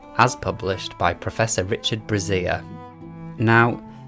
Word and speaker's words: Brazier: published by Professor Richard Brazier. Now, there's a good chance that his surname is correctly pronounced Brazier, but I, very respectfully, am going to call him Professor Brazier.